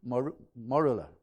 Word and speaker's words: morula: is known as the morula. I had to get the pronunciation right. Morula. That's how they apparently pronounce it.